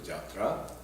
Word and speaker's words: yatra: And yatra, generally we know, is the travel, journey. It also means play. And drama in Bengal we call jatra, and yatra is pronounced as jatra.